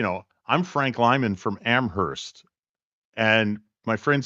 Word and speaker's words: Amherst: I'm Frank Lyman from Amherst and my friend said you know he's not from amoris because you don't pronounce the h you are flounder yeah